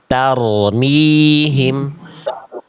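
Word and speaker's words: تَرْمِيهِم: Nah, itu kan masih tar jangan th target getarannya jelas. Tarmihim.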